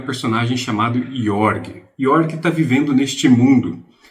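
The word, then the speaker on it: Jorg: Então nós vamos acompanhar o Yorg, o que se escreve Georg, né? J O R G.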